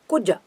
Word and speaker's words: Kuja: We call him Kuja, Kuja, Kuja, Kuja. So both are short letter. Ku is a short letter, Ja is a short letter, and also Mangala.